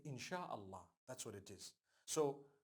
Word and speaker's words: إن شاء الله: if Allah Wills right how do you say create Allah you would say in it is the instruction right the command inchi means to create no one says inshi Allah they say insha Allah that's what it is